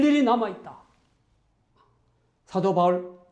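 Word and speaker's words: Paul: 예수 그리스도의 제자 또는 사도 바울, 영어 발음은 폴입니다.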